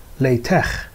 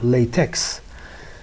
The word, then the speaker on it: LaTeX: I'm Sina Mirshahi, and in this week we are going to talk about LaTeX, or some people might pronounce it LaTeX, or some people even might read it as you see here, LaTeX.